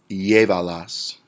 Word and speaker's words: llévalas: Llévalas, where we count 3 syllables back. Llévalas is 3 syllables. We go 1, 2, 3 back. Accent on our E.